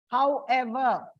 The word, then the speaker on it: however: Like words, compound words ending with ever, self, selves. You find it on the second syllable. Like however, whatever, wherever. It is on the second word, second syllable.